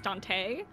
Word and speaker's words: Dante: arrived that's the proper that's the proper inflection for his name uh everyone else has been saying it wrong it's Dante just letting you know Dante's